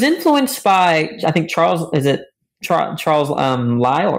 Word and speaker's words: Lyell: So he was influenced by, I think, Charles Lyell, right? Is that how you pronounce it? Yep, okay, Lyell.